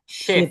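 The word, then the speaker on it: chef: চেপ না shape? শেফ, শেফ, এটার উচ্চারণটা শেফ, শেপ।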